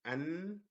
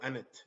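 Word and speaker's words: أنت: So see, anta. So we hit the break. And we don't go anet. Say anta. So this is the first syllable. An, that's the first one, and then ta, the second syllable.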